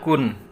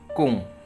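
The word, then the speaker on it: くん: Kemudian di sini ada kun, atau biasa juga dibacanya kung ya.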